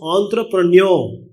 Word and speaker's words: entrepreneur: Please remember, it's not entrepreneurs, it's entrepreneur. R is not pronounced, last R.